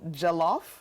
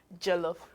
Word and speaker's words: jollof: them CU I know some people are probably thinking Jello fries but that's not what we're making so jellof jellof R okay so what goes